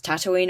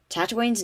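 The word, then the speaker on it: Tataouine: the saga going tatooine tatooine's name came from a city called tatooine pronounced the same but spelt different earth tatooine is located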